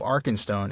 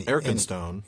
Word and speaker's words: Arkenstone: So basically what Rateliff is saying there is the fact that Tolkien represented the first syllable of Arkenstone as ARK instead of EARK means that it was spelled EARC in Old English.